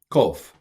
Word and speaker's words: kof: Kof. This is transliterated with a Q, but it's a ko, roof of the mouth, ko.